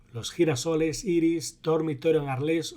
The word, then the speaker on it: Arles: y la respuesta correcta es arles o si lo pronunciamos en francés arlo Cómo se cortó la